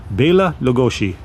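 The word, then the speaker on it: Bela Lugosi: In Hungary, it would be pronounced Ba Lagosi.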